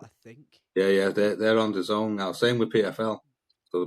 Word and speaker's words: DAZN: Oh, DAZN apparently is how you say it.